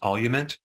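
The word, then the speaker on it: Olumiant: alopecia areata is called I think it's pronounced olument and despite having this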